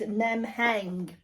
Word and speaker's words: Nemheng: in um it's cut it the make is nem hang I'll spell it for you because it's n e m